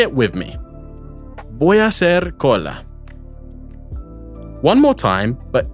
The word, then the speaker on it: hacer: Be aware, however, that because the H sound is silent in Spanish, remember it's hola, not hola, it can be tricky to distinguish the 2 consecutive A vowels between voy a and hacer.